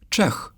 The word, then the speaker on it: Czech: Letter C stands for c, but the ch sound is spelled as cz. And the Polish word for Czech is Czech. Remember that ch is for the h sound.